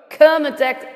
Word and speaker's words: Kermadec: Southern California's our last earthquake was the 1.0 kermadec islands were how it's pronounced in New Zealand 5.1 let's see if